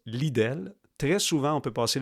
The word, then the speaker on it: Lidl: Lidl, ça s'écrit L-I-D-L, c'est allemand, mais ça se prononce Lidl.